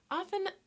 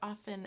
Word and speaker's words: often: Often has a letter T, which sometimes we pronounce and sometimes we don't. Some people say it, some people don't. So if you hear often and often, it's the same word.